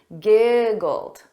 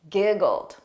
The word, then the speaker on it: giggled: So notice that ED is pronounced as a very soft D. Giggled. Repeat after me. Giggled.